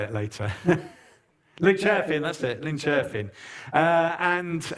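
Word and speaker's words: Linköping: to see the cathedral cathedral uh in uh Liipo King. I probably can't say that correctly, but anyway, we went to see a big big cathedral. Anyway, uh Junior will tell us how to say it later. Lynching.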